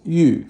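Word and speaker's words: 玉: That's Yu, fourth tone, which means jade. You know, jade is very precious in China.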